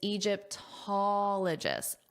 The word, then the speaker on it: Egyptologist: Now, important to note that the syllable stress is Egyptologist. Ologist. So, our syllable stress is here. Ologist. And this is important because that pattern applies where the syllable stress is on the first O before ologist. Ologist. Ologist. Because it applies to all the words.